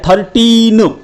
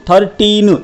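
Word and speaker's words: thirteen: जाता है अब देखिए टी एच आई आर टी ई ई एन इसका उच्चारण होता है 13 13 इसके एंड में टी ई ई एन टीन आता है अक्सर जिन बच्चों को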